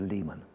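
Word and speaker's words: leman: Is it lemon, layman, or Lehman? We've actually gone for Lehman.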